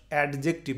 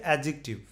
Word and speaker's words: adjective: খেয়াল করে দেখেন, জে সি ADJECTIVE, এটার উচ্চারণ আমাদের দেশের বেশিরভাগ মানুষ অ্যাডজেক্টিভ বলে, এটা তা নয়, এটার উচ্চারণ হচ্ছে অ্যাডজেক্টিভ। একেবারে অ্যাডজেক্টিভ নয়, অ্যাডজেক্টিভ, অর্থাৎ এই ডিটা অনেকটা এই জের মতো উচ্চারণ হয়ে যাবে।